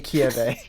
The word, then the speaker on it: Kirei: Kotomine Kirei. Not the other pronunciation.